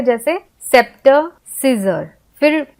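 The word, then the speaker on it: Caesar: silent होता है जैसे सीजर में ए साइलेंट है क्योंकि यहां पे ए का उच्चारण कुछ भी नहीं आ रहा हैना ना हम सेजर बोल रहे हैं ना हम साइजर बोल रहे हैं हम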